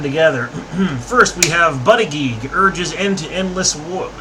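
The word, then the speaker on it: Buttigieg: climate deals as well I'm saying buddy geek partly because you know I heard it said that way and the way it's spelled it kind of makes sense so I'm just I'm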